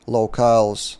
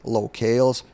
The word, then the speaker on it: locales: and you specify which locals are you working with and side note just today I found out that for years I've been mispronouncing the word locales it should be locals so yeah as a